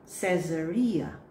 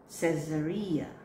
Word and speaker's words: Caesar: The word is, this time, say it as Caesar. Caesar. See the difference? Caesarea, and this one is Caesar.